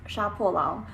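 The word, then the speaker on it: 杀破狼: So on that topic, one of the books that I really wanted to read was Sha Po Lang, or in like proper Chinese pronunciation is Sha Po Lang, which I actually don't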